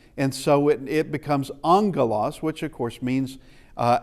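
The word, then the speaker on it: ἄγγελος: But when there is a double gamma, it's now the ng sound. So it's uh angalos uh does not have a a new in here. It has a double gamma. And so it it becomes angalos which of course means uh angel.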